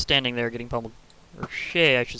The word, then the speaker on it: shi: There actually has been a few attempts to make hermaphroditic pronouns, and Shay is actually considered one of the most popular. It's like S-H-I with a pronunciation is more like S-H-A-Y.